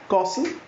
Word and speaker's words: castle: This T is silent in each of the word. First word is castle, C-A-S-T-L-E, castle, in which they pronounce it as castle, and in America they pronounce it as castle.